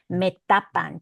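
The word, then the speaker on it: Metapán: So metapan. To this day, this one actually is the same name. So me tapan, pronounced the same way in Spanish, pronounced the same way in Nahuatl.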